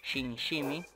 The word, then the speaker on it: SimSimi: que les haya gustado Shin shimi o como dice Dross Shin shimi que es la la manera correcta de pronunciarlo suscríbanse Comenten punin denle